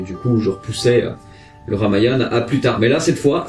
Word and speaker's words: Ramayana: parler du ramayana oui ça s'écrit ramayana mais ça se prononce comme ariane alors je suis très content